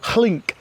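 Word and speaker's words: hlinc: Hard word to pronounce. I think it's hlink, H-L-I-N-C, which means a ridge of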